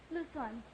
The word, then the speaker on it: Luzon: Luzon, yes. In Luzon. Oh, I have Quezon. Luzon is pronounced.